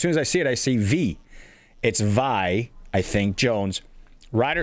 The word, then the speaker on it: Vi: This one V. I I it's spelled VI. I think it's Vi Jones. As soon as I see that name, I say V because one of my